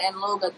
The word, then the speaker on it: Anloga: You have to put like a G in between the N and the L. Angloga.